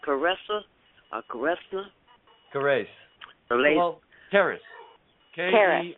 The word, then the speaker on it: Kerrace: But how is that lady's name pronounced? Kerrace or Kerrace? Kerrace.